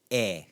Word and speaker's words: é: So it's just pronounced eh, eh, eh.